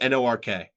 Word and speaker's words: Newark: Or as I say it, Newark. It's Newark. Yeah. Newark. I say it like it's Nork. Newark. Yeah. Newark. Like Mork and Mindy, but Nork and Nindy.